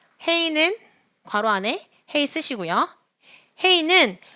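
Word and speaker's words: הא: 괄호 안에 헤이 쓰시고요 헤이는 모음보호를 가지지 않으면서 단어의 끝에 올 때는 발음하지 않습니다 한번 더 헤이는 뒤에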